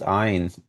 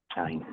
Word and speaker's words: Ayn: do you know that Ayn Rand is pronounced Ein as opposed to Yeah, and? Ein, like the German number one, Ayn Rand.